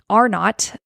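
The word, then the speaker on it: R0: uh who don't know R not looks like R zero but pronounced R not is the basic reproduction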